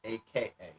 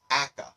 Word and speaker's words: aka: Sometimes I hear people actually just say the letters AKA or I've heard it read as aka .